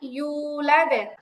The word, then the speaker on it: يولد: লাম ইয়ালিদ ওয়া লাম ইউলাদ لم يلد ولم يولد ওয়ালাম ولم ইউলাদ ওয়ালাম ইউলাদ।